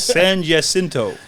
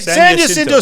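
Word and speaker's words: San Jacinto: this mess get me out of it Matt San jinto okay San jinto stakes in Santa Anita California he had been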